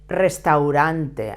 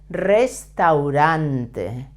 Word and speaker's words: Restaurante: El restaurant notice that the first R should be pronounced as a Double R strong sound because it's at the beginning of the word and all Spanish are